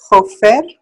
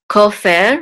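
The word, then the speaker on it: כֹּפֶר: Kofer. Kofer, right. Okay. Uh-huh. And accent is on the first syllable, kofer.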